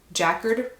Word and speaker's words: Jacquard: But I decided to get this wallet, one because I love their classic Monogram Jacquard print, and that's how you say it, but